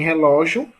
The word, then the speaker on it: relógio: Em relógio, Gil é a última, Ló é a penúltima, certo?